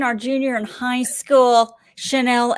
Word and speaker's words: Chanel: matt henning channel f i'm saying it right chanel and i'm not sh i'm not saying it right chanel god dang it chill chanel we we just want